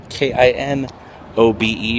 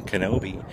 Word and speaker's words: Kenobi: It's not K-I-N-O-B-E, if you can see back there. It's not Kinobe. It should be K-E-N-O-B-I, like Obi-Wan Kenobe.